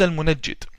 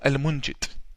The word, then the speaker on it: Al-Munajjid: His name is Al-Munajjid or Al-Munjid, depending on the pronunciation. The Yemenis call him Al-Mungid or Al-Munajjid. I call him Al-Munajjid.